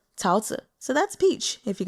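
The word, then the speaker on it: 桃子: It's Tao Zi. Tao, second tone, Zi, Tao Zi.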